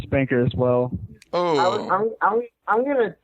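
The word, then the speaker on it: Spnkr: why I believe it's spunker, and I'm gonna do this really quick. Take the word spunker, S-P-N-K-R, and pronounce it singular, spunker. You get spunker. That's why I believe it's spunker.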